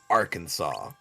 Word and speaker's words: Arkansas: And since the letter S at the end of French words is usually silent, we pronounce Bill Clinton's home state Arkansas.